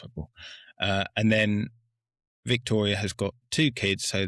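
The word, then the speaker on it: Viktoria: And then there's their daughter who is uh Victoria or Victoria. It's a V, but I believe in German it's W.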